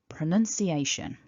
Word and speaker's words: pronunciation: got here the word pronunciation. And these marks show us several things. First of all, they show us that the word is divided into 5 discrete chunks, 5 syllables. Pr, nun, si, a, shun.